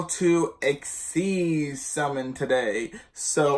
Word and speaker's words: XYZ: video on how to XC summon today so or XYZ summon doesn't really matter how you say it I say exceeds because I like exceeds mix makes it sound kind of cool I don't know so